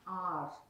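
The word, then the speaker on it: hour: நோ, இதை எப்படி pronounce பண்ணுவாங்கன்னா ஆர், ஸோ அங்கே ஆ சவுண்ட் வருது, அதனால தான் நம்ம இங்கே ஆன் போடுறோம்.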